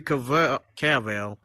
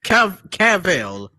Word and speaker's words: Cavill: Now, as far as his physique, remember, if you look at earlier pictures of Henry Cavill, did I say it right, y'all? Yeah. No, you didn't. Keep going. How- Cavill? Cavill.